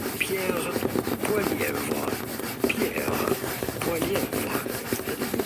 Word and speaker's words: Pierre Poilievre: In French or in French Canadian, his name would be said as Pierre Poilievre. Pierre Poilievre. But if you find in English, you say his name as Pierre Poilievre.